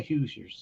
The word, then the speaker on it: Hoosiers: I think it's Indiana it's the hoosers oh okay so I didn't pronounce that wrong thank you for that you're fine but it's that yes they call they pronounce it the Hoosiers so go ahead but